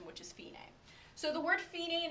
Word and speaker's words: fine: this pronounced Fein a it looks like fine but it's an Italian word again so we're gonna pronounce it with the Italian pronunciation which is fee name so the word feeding